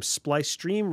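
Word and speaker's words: Splicestream: kick under the name splice stream rhymes with ice cream and most importantly uh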